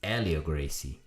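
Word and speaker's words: Hélio Gracie: If you guys want to pronounce, it's not Helio Gracie or Helio Gracie. It's Helio Gracie.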